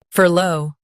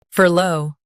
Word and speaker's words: furlough: Furlough. Now, read the syllables shown on the screen naturally. Fur. Low. Furlough. Stress fur and keep low smooth.